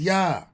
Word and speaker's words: Yah: in modern Hebrew where the Y is pronounced e with the vow he being pronounced a created which we have captured as yah right the construct of